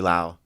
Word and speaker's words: Lowe: W either yeah it's not low by the way you like lows just like made everyone pronounce your name wrong yeah yes oh my ok there's people in my family who pronounce it low it's the weirdest thing really none of us know what's going on yeah cuz like my grandparents are like Lau yeah and we have